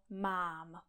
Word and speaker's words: mám: Takže například v češtině existuje slovo mám. Já mám. Je tam jedna slabika, jeden vokál. A mám.